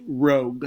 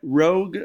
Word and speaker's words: Rogue: the Rogue Wave right um Ro this is pronounced Rogue all right Rogue just like the new Star Wars movement coming